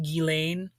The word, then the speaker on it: Ghislaine: I have been told that it's pronounced Gilain, but you know, we're gonna head we're gonna